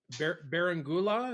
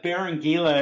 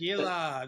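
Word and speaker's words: Berenguela: And uh so you're talking about this uh Barangula. Is that how you say it? Barangila. It took me a couple months. Barangila.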